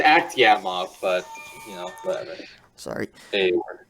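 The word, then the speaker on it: Akhtyamov: Yeah, it's Aktiamov, but whatever.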